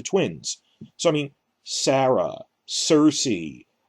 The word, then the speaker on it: Cersei: So, I mean, Sarah, Cersei, both spelled with a C, a soft C like that, as part of a naming scheme.